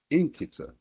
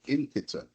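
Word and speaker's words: nkịta: He said, "Inita." I said, "Say it again." He said, "Inita." Can you spell it?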